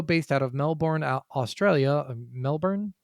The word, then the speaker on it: Melbourne: Melbourne? It's Melbourne, yeah, right? Melbourne. Something stupid like that. Even though it's spelled fucking born, whatever.